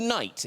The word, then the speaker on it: Night: you now i i believe i call you night is that right that's correct yeah that's great the aim is silent okay so uh it's lovely to have